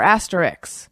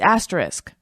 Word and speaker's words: asterisk: Wilson says, Dear sports talk people, it's not asterisk or asterix. It's asterisk, pronounced just as it's spelled.